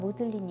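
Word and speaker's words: Magdalen: 나오는 예수의 여자지 자인 막달라 마리아를 옥스포드 에서만 모델 인 이라고 발음합니다 중세의 고딕식 치 풀과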